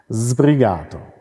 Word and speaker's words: sbrigato: Und der Strich vor einer Silbe, der oben ist, der bedeutet Betonung. Ja. Sbrigato. Also. Und der betonte Vokal A ist gelenkt. Also sbrigato.